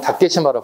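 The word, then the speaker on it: 竹島: 일본식 발음은 다케시마라고 불러요.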